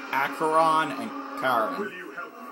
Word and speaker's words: Acheron: Yes, it's pronounced Acheron and Charon.